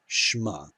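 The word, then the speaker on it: שמע: part let's start reading we have shema this is an audible schwa and we have here a cluster sheen mem cluster this is one syllable you know it's a closed syllable this closes that this ion closes the syllable so the cluster opens it the patah is our vowel the ion closes it one syllable shma the next word yes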